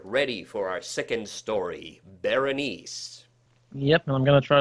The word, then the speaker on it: Berenice: Like Benares and not Berenice, which is the real.